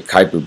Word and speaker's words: Kuiper: all right it's spelled kind of koiper but pronounced kuiper is named after the astronomer who predicted its